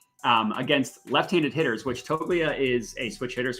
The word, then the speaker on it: Toglia: I have Toglia. Toglia? I believe that's correct. Toglia, yeah. Got to pronounce the G a little bit. Toglia. Okay. So someone told me that it's a silent G.